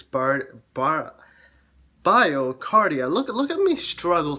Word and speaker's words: BioCardia: so i said it wrong it's bar bar biocardia look look at me struggle to say this